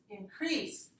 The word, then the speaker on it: increase: three okay two goals where is the stress you squeeze decrease increase okay so this is increase this is two - if you say increase that's announced I noticed there's a